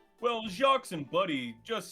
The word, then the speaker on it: Jacques: Well, Jacques and Buddy just sounds off somehow. You don't pronounce the S.